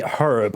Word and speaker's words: herb: bullets how do I I say herb I pronounce the h rope at the ready